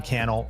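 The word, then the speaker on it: Cannell: below my name is canel rhymes with YouTube channel this is the think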